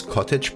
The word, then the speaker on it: cottage: Do you know when I pronounce cottage pie, there's no T sound in it?